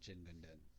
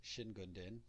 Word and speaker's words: Jingunden: that is related to jin gunden so jin gundin also can be pronounced shin gundin if you remember that from the previous video both pronunciations are valid both pronunciations are legitimate but we are using